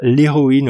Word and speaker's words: héroïne: h muet ou aspirer alors le mot héros c'est le héros c'est aspiré en revanche on va dire l'héroïne au féminin donc ça c'est pas très logique c'est pas très cohérent mais le mot féminin a un h muet et le mot masculin à un h aspiré le mot huile ça